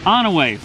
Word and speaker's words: Onaway: Onaway. Once we got to Onaway, things picked up finally, because we were about halfway there. We were almost here, but then Onaway.